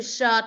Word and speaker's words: shirt: Cái từ shirt này nè, con hình dung nó như là cái chữ s nặng của Việt Nam á. Nó như này nè. S ơ tờ ớt nặng shirt.